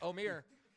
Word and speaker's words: Amir: oh uh amir yes oh mir yeah i pronounced it right because i used to call him omar but omir he uh i was